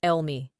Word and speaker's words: Eul Mi: V's daymaster is Yin Wood Goat, and in Korean Saju it's pronounced Elmi.